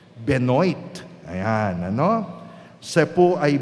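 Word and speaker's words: Benoît: si Ben Ben Ben Ang hirap i-pronounce kasi French no benoit Ayan ano siya po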